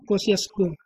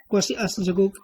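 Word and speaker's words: Kosciuszko: इसको पढ़ते हैं कोसियासजको। जो भी आप प्रोनाउंसिएशन कर सकते हैं। ठीक है। तो माउंट कोसियासको। ठीक है, माउंट कोसियासजगो कर लीजिए या माउंट कोसियासको कर लीजिए।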